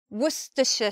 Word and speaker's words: Worcestershire: Or some people say Worcestershire sauce. Two ways to pronounce that sauce.